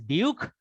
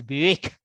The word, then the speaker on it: Buick: intuitive sensitivity of grammar there is a car brand in america which is spelled as buick you don't read it as buke you read it as buick so it is a ui spelling that is making that sound so in other words